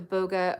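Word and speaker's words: Bogge: the puka or the Boga or the Naga sorry the bog I think it's pronounced bog the puka or the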